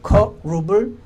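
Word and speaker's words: כְּרוּב: 히브리어 발음으로는 커룹입니다. 그래서 커룹을 그렇게 영어로 써놨더니 미국 사람들이 보고 cherub이라고 마음대로 읽어서 cherub이 됐습니다. 원래는 그룹, 커룹입니다.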